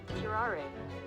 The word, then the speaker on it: curare: Curare.